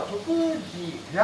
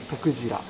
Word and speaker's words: 徳次郎: 地元の人は徳次郎って発音する。徳次郎。